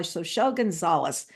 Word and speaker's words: Xochitl Gonzalez: We're going to start by Anita Delonte, What Laughs Last, and it's by Xochitl Gonzalez. And I know that's pronunciation of her name because I interviewed her when her last book came out, Olga Dies Dreaming.